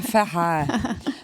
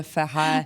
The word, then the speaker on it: Ferret: Alors comment prononcez-vous Cap Ferret? Le Ferret. Voilà, ça va faire plaisir à notre auditoire, le Ferret.